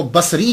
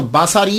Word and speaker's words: بصری: وہ کہا جاتا ہے۔ لیکن ایک بات یاد رکھیے گا کہ جب آپ اس کو تلفظ کریں گے تو باساری نہیں کریں گے، سواد کے اوپر زبر نہیں پڑیں گے۔ اگر آپ نے سواد